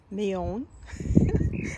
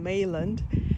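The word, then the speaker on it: Meilland: I hope I pronounced it right, because before I was saying Mayland, and then I saw Lynn's video and Ken's video as well. Then they pronounced Mayon. This is Mayon, White May Love, French rose.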